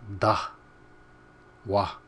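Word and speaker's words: ཟླ་བ: Now this is a really totally new, and it's kind of hard to pronounce. If you look at the letter, it doesn't look like it's going to sound like that, but that's what it sounds like.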